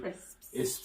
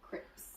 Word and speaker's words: crisps: for learners of english it's the s sound at the end crisps you'll find a lot of people mispronouncing them as crips no crisps it's just